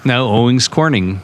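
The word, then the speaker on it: Owens Corning: Owings Corning is up there. That's how they say it Yeah.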